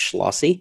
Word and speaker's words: Schlossy: It's pronounced Schlossy.